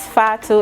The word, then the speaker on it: Fatou: me very interested in malaria my name is fatu it's spelled as f-a-t-o-u i am gambian and i